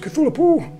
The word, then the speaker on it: Cthulhu: Cthulhu. That's how it's pronounced, Cthulhu.